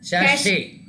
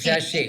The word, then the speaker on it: sachet: It is sachet. Because that ET is a French word. Anything that ends with ET, it is a French word. So anywhere you see ET, it has to be pronounced as EY.